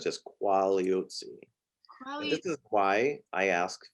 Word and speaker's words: Quagliozzi: pronounce your last name it's quality if you just silent g silent g sorry what is the diseases are there these are there so it's just quality this is why i